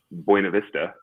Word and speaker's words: Buena Vista: So they literally go up to the mountains in Buena Vista, right? If you pronounce it like a true Coloradan, and they hack up